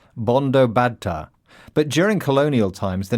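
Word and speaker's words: Bandyopadhyay: Sheila's surname is actually pronounced Bondo bada.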